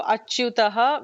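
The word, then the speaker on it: अच्युतः: So, achyutaha with the ending visarga. So, we have to pronounce that visarga very clearly.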